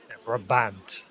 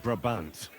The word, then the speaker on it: Brabant: Braant. Braant. I kept seeing his name wrong. Braant. If there's anything that can spoil my mood, it's that bastard. Brabant.